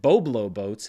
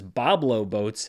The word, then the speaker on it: Boblo Boats: dollars in one theater I was corrected on that pronunciation by a few people last week I think I said Boblo boats but it is Bob low boats and it is a